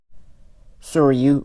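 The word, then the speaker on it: Sōryū: So are you or so are you. I've heard it pronounced both ways.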